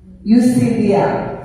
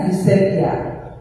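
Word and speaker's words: eusebeia: Eusebia, tulisannya kayak kita mau ngomong tulis. Nah, namanya ditulis sama Eusebia. Dibacanya Eusebia, ya, Eusebia. Paling banyak ditulis dalam Perjanjian Baru.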